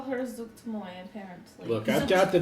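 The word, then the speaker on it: Zuggtmoy: Or you could call her Zuktmoy, apparently. Look, I've got the big giant, the snout, and not it's Zuktmoy.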